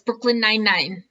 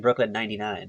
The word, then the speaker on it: Brooklyn Nine-Nine: No, it's Brooklyn Nine-Nine. But I think all these years I've been saying it wrong. I've been saying Brooklyn 99.